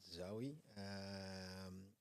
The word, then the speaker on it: Zaoui: So it's pronounced not Zoe, but Zaoui.